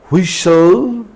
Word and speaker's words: whistle: T is also normally silent in the words that end in STLE. STLE. For example, castle, apostle, hustle, bustle, whistle, wrestle or wrestlers, thistle, nestle, etc.